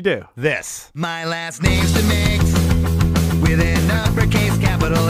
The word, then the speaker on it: DeMakes: It's pronounced DeMakes, DeMakes, DeMakes. You can forget all the rest. Uppercase D, lowercase e, uppercase M, lowercase a, K-E-S.